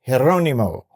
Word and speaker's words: Geronimo: And the name Geronimo is a Spanish name. It's not even an Indian name. No, that I didn't know. It is pronounced Geronimo.